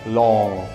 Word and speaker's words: long: Zwróćcie uwagę, bo większość ludzi wymawia to tak, że na końcu słychać k. A powinno się to wymówić tak, jakbyście chcieli się zadławić własnym językiem. No, dziwnie to brzmi, ale faktycznie tak jest.